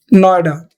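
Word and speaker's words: NOIDA: नाम दे दिया यानी जब उनको हम प्रोनाउंस करते हैं तो उसको एस अ वर्ड प्रोनाउंस करते हैं उनको लेटर की तरह प्रोनाउंस नहीं कर रहे हैं उसको वर्ड की तरह प्रोनाउंस कर रहे हैं जिसको हमने बोला नोएडा इसको हम बोलते हैं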